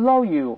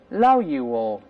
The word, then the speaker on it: loyal: 忠实的 loyal，不要读 loyal，后面还有 l 的声音。再来一遍 loyal，再读一下